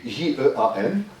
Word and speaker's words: Jean: Jean, c'est le mot Jean en français, J-E-A-N. En anglais, ça se prononce Jean.